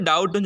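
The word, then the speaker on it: doubt: மிடில்ல இருக்கு பி சரிங்களா இந்த இடத்துல டவுட் டவுட் அப்படின்னு சொல்லிட்டு பி தெரியுற மாதிரி நம்ம ப்ரொனௌன்ஸ் பண்ணக்கூடாது சோ அந்த இடத்துல b ய நம்ம என்ன செஞ்சுருவோம் சைலெண்ட்ல போட்டுருவோம் அப்ப என்னது அந்த b ய ப்ரொனௌன்ஸ் பண்ண மாட்டோம் உச்சரிக்க மாட்டோம் அப்ப டவுட்ன்னு சொல்லுவோம் ஐ ஹேவ் எ டவுட் அப்படின்னு சொல்லுவோம் அப்ப டவுட் சோ இந்த இடத்துல டி தான் நம்ம அழுத்துறோமே தவிர பிய நம்ம எதுவுமே செய்யல பிய ப்ரொனௌன்ஸ் பண்ணல சோ நெக்ஸ்ட் பாருங்க சைலெண்ட்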